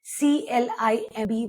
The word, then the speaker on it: climb: C L I M B would be climb not climb because it is preceded by an M.